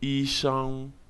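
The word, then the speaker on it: 医生: Dans la deuxième syllabe de ce mot, l'initiale SH se lit comme dans le mot chat et la finale ENG se lit comme le son que nous faisons des lettres EN en français.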